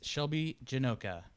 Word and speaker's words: Shelbie Janocha: Our guest today is Shelbie Janocha.